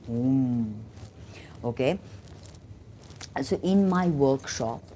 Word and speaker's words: hum: It's Dirghavarn, Hum, H-O-O-M, Hum, okay?